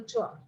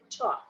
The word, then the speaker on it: tour: for joining the educational tour. So yesterday I had mentioned the pronunciation of the word tour. It's not to, but it is tour.